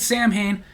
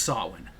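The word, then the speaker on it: Samhain: so if you meet somebody who calls it Sam Hayne just politely correct him by the way it's actually pronounced sawin then Daniel D 69 commented the pay-per-view was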